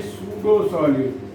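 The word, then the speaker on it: pseudo: अभी देखिए उसी तरह से सूडो सॉलिड होता है। सूडो को लिखते पी से हैं, इसको फसीदो मत पढ़ दीजिएगा, पी यहाँ साइलेंट है।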